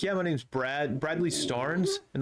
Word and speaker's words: Starnes: my name's brad bradley starnes and they're like storms no stars s-t-a-r-n-e-s star nintendo entertainment system and they're like yeah